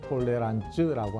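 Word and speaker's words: Toleranz: 이미 언급했지만 톨레랑스는 프랑스식 발음입니다. 영어로는 톨러런스, 독일어로는 톨레란츠라고 합니다.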